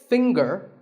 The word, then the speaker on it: finger: the g is silent now we say finger we say the g younger again with the G but singer no G